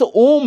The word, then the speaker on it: ओम: तो इस ओम में तीन ध्वनियां होती हैं। आपने अवश्य ही उच्चारण किया होगा। जहां अ जागृत अवस्था जिसे कहते हैं। उ जो स्वप्न अवस्था है। और तीसरा अंतिम है म सुसुप्ति अवस्था।